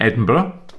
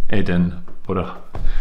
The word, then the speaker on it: Edinburgh: Now, I should just highlight here that the way you pronounce Edinburgh is as I'm saying it, Edinburgh. Edinburgh. And it's not called Edinburgh.